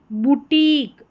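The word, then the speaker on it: boutique: ये सभी ईक करके पढ़ा जाएगा इन सभी को। जैसे यहां पर है बुटीक बुटीक।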